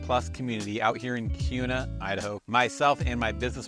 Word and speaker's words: Kuna: and it's it's pronounced Cuna with like a q even though it's a K in Cuna Idaho and it is